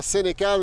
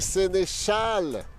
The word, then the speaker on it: Sénéchal: On regarde le Twitter et on confirme que ce n'est pas Sénécal, mais bien Sénéchal.